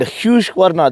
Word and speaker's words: Husqvarna: SWAT Pillion means the black arrow, and Husqvarna, that's how you pronounce this Swedish name or Swedish brand that has been dominating the off-roading scene and the racing, scene as well.